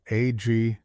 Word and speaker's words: aggregate: So aggregate, another noun form, pronounced aggregate, is a group or mass